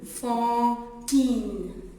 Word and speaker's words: Fantine: A-N se prononce en, F-en, fantine.